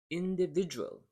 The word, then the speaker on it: individual: rhythm is monotonous one three and the stress syllable is in the second sound monotonous individual individual so you're similar you've got uh three